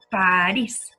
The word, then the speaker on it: París: Y por último, París. Una aguda que termina en S. Todas esas llevan tilde en la sílaba tónica.